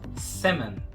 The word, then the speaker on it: salmon: Não vamos pronunciar o L e o A vai ter meio que um som de E. Salmon.